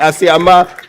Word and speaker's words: Asiama: Johnson Pandit Asiama. Let me pronounce it. Asiama. The English confused me, I'm sorry. Asiama.